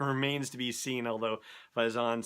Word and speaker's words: Faison: I left out was Donald Faison or Faison Faison oh here we go with pronunciation who you probably know best as Turk on Scrubs he is playing a character character called hype Faison faz o n compared to his FA is o n so it should be